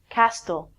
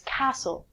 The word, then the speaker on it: castle: lot of people say Castille it's not Castille it's castle a castle is a